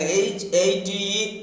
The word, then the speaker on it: hate: So they teach us and students, we mostly pronounce H-A-T and H-A-T-E alike, hat. It is hat. H-A-T-E also is pronounced as hat. No, it is hate. Hate. That is, when a syllable ends with E, preceded a single T and preceded by A, it should be pronounced as A.